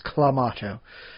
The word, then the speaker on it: Clamato: They actually decided to solidify a pronunciation guide on it. It's Clamato.